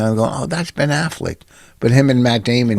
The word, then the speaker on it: Affleck: important to tell it was okay uh ben affleck was good i'm looking and going oh that's ben affleck but him and matt damon how are you